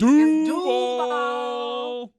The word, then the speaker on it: Duval: You got to say it right. It's doo.